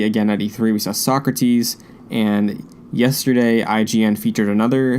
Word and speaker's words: Socrates: how we've heard them like it's like suck rotties instead of like socrates you know like so